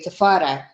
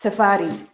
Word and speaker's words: Tafari: It's like the name Tafari. Most people, I'll hear them say when they call a name like that, they'll say Tafara. Oh, do you see what I'm saying? Is that an Ethiopian name? Yeah, but it's pronounced Tafari, not Oh.